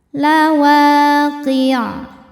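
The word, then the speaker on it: لواقع: Lawaqi'. Nah ini qaf kasrah kemudian ke ain, jangan ki tapi qi'. Qafnya tebal, masukin ke ain ke tenggorokan tengah.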